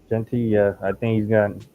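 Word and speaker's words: Jeanty: State um I think U jenty am I pronouncing his name yeah right jenty yeah I think he's got play with a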